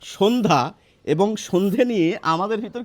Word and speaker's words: সন্ধ্যা: তো এই জফলার উচ্চারণটি প্রমিত বাংলায় বা মান্যচলিত বাংলায় আসবে না। সেইজন্য যেহেতু আমরা বলি সন্ধ্যা।